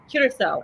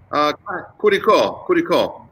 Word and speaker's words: Curicó: So we are now in the Central Valley, specifically in the Valle de Curacao. Is that, am I saying it right, Roberto? Curacao. Curicó. Curicó. I thought so.